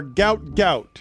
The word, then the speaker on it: Gout Gout: His first name and his last name are Gout Gout. Right. We are pronouncing it uh correctly.